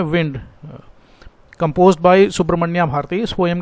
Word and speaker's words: Subramania: Spelling पर ध्यान दीजिए, SHU नहीं है, SUBRAMANIA, सुब्रमण्या भारती, BHARATI।